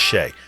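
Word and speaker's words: Hsieh: Uh his his last name is pronounced Shay.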